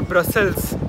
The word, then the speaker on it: Brussels: उनमें से एक है ब्रसेल जो उनका डच ओरिजिनल प्रोनाउंसिएशन है। एक है एक्स के साथ वो फ्रेंच प्रोनाउंसिएशन है और ब्रसेल्स जब आप एंड में एस लगाते हो वो इंग्लिश प्रोनाउंसिएशन है।